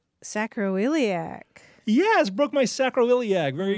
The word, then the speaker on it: sacroiliac: It's five syllables. Sacroiliac.